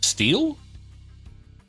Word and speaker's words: stele: Steel? I don't know how to pronounce that either. I will look it up. I wish to be correct. It is pronounced steel.